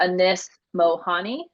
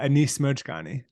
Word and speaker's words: Anis Mojgani: and you'll have to help me with the pronunciation the same uh Anis mohani yeah Anis mojgani okay so tell them the story because it's